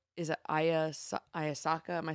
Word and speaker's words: ayahuasca: And Martha said it's ayahuasca. That's how it's pronounced, apparently.